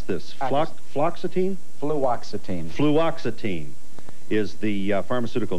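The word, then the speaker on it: fluoxetine: How do you pronounce this? Fluoxitine. Fluoxitine.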